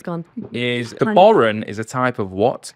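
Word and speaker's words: bodhrán: The next question that it's gone is the Borin is a type of what instruments the I can spell it for you.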